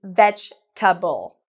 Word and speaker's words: vegetable: Many students say vegetable. Sorry, for vegetable. We don't pronounce it this way. First off, make sure your V is good. Veg. We say vegetable. Vegetable.